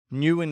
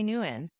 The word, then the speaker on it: Nguyen: and he he's English F me and he pronounced his own name Newan as well and he his dad never corrected